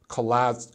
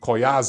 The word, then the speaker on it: Collazo: Garden a fight between Terence Crawford and Luis Collazo Collazo I always want to say coy as oh that's just how his name looks to